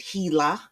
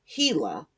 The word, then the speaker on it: HeLa: More than 100 corporations have profited from using the cell line named Henrietta Lacks, HeLa, or they pronounce it HeLa.